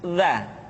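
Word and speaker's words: ذ: Minal mudni madidanid selanjutnya huruf dza diucapkan dengan menyentuhkan ujung lidah dengan dinding dua gigi seri di bagian atas seperti kita mengucapkan huruf tsa ujung lidah boleh ditampakkan ataupun tidak nampak perhatikan latihan berikut ini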